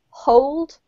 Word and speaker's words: hold: You need to be very clear whether you're saying hold or old. So old, hold, old.